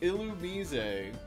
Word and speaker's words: Illumise: It's supposed to be illumise, not Illumise. Even though it's illuminating stuff. I'll lose men. That's a good That's a good misprononunciation. No. Yeah, it's Illumise, which is it's insane.